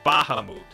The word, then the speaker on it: Bahamut: As far as I am aware, the proper pronunciation is Bahamut. Because I think it's Indian. This I learned a couple of years ago, actually. Or it's, according to medieval Islamic cosmography. So, it's Islamic, I guess? But it's supposed to be pronounced Bahamut.